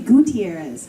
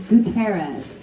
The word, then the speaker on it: Gutierrez: that's fine gas I always want to say Gutierrez but it's gutterz what is your website